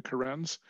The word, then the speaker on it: Karen: It looks like, when you spell it, it looks like the name Karen, like a woman's name Karen, but they're called the Karens.